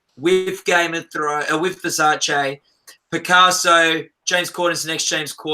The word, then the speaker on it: Versace: So no, you actually pronounced it right. That's how it's supposed to be pronounced. Oh, is it? It's us Americans that ruin everything. I saw something where Donatella Versace was asked what's the most annoying mispronunciation she's ever heard, and she said Versace instead of Versace.